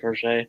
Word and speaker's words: Crochet: That's how you say it, Crochet.